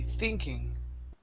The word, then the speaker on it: thinking: to the word thinking give me a good th sound here fee thinking thinking good nice job okay